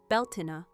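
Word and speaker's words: Beltane: Beltain pronounced Beltina marked the beginning of the bright half of the year where Sam Huain ushered in the dark.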